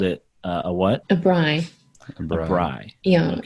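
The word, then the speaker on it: braai: so you called it uh a what a bry yeah it's it's spelled b-r-a-a-i oh yeah okay i have actually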